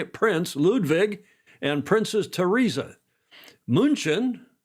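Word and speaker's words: München: Munchin, the German pronunciation of Munich, invited residents and guests to open fields outside the city walls for public joy and sport.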